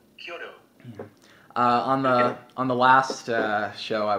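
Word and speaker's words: Chiodo: Did I pronounce their name right? Kyoto, yeah. C-H-I-O-D-O. Kyoto.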